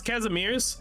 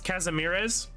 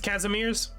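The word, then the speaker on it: Kazimierz: it's a pleasure casimirs it's supposed to be pronounce casimirs everyone just pronounces casamiras is that how it is it's casimirs I didn't say completely different but like the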